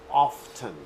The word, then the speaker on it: often: And remember that often is sometimes pronounced as often. So it's a difference in dialect. Some Americans pronounce it often, but the standard form is often. Some people pronounce it often. Both of them are correct.